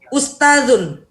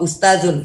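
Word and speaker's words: أستاذ: Nah, sekarang ustazun. Ustazun itu ini zal ya, zal. Ingat zal kecil, zal kecil ini adalah cara bacanya itu digigit ya, lidahnya di gigi paling depan ya.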